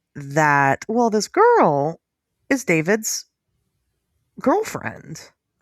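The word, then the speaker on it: d4vd: It's not Deorvid, it's David. But it's you don't know. You don't know this Deorvid story. This David story. So Deorvid. So, it's David. It's spelled D number four V D.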